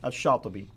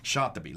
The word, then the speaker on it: Shatibi: Now, how would you pronounce his name? Shatibi. Shatibi.